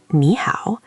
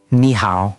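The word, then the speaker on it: 你好: The most common greeting is "nǐ hǎo". That's n i h a o with a third tone on "nǐ" and a third tone on "hǎo".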